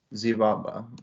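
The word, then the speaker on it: Xibalba: that what it's called z baba yeah it's spelled with an x but i think it's uh something like that okay anyway that road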